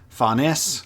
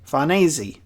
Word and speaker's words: Farnese: But it's more of apparently it's like more of like an Italian style name, so Farnese is how you say it. And so we got Serpico, Azan, and Farnese.